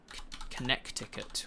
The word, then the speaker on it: Connecticut: Connecticut with a C in there for some reason.